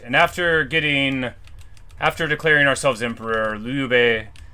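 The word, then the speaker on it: 刘备: Alright, and after declaring ourselves emperor, Liu Bei, that's how you say it.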